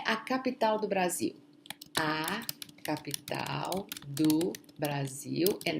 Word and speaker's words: Brasil: Notice, please remember that the S between two vowels, the pronunciation is going to be Z, okay? It's a Z sound. Brasília, Brasil.